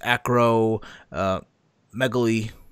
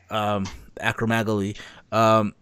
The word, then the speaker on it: acromegaly: and all that his acro megali yeah I've had butchered the name I apologize that's right acromegaly which was the birth